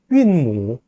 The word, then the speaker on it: 韵母: 성모와 운모, 중국어로 읽으면요. 성무, 성무, 그 다음에요. 윈무, 윈무 이렇게 발음을 합니다.